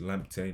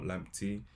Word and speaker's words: Lamptey: Just FYI, it's actually pronounced Lamptey, not Lamptey.